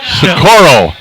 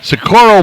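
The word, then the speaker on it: Socorro: we have Mexico though sakuro sakuro Perez you know how I know how to pronounce sakuro cuz we have a sakuro New Mexico Oh 40 50 miles south Albuquerque yeah and she's opening up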